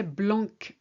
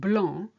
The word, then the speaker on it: blanc: For instance, if you say blanc instead of blanc, I'm not sure what you're saying is that important.